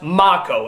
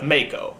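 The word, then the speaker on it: Mako: he leave me alone everybody's been telling me that his name is pronounced ma KO instead of Maiko but to be honest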